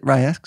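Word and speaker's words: RY X: Rye X?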